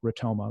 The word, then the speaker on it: ROTOMA: makes this really easy it's pronounced like Monona so rotoma like Monona and what that stands